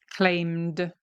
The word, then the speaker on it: claimed: Claimed, claimed. Okay, he claimed. It ends in a D because the is vocalized.